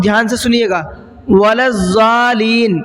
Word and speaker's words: الضالین: ولا الضالین پڑھتے ہیں، بہت دھیان سے سنیے گا، ولا الضالین، لام پہ جو تشدید ہے اس کو کرنا بھول جاتے ہیں اکثر لوگ۔ تو مد کے بعد